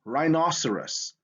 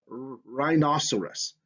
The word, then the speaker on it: rhinoceros: okay rh is in rhinoceros again you have that r sound and the h is silent here so you have that rhinoceros p n when you